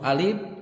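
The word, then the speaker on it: ألف: pertama membaca huruf alif cara membacanya huruf alif adalah pendek dan tidak dipanjangkan Hal ini dikarenakan Alif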